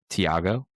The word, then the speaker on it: Tiago: Tiago is, I believe, the correct pronunciation there. And we meant no offense.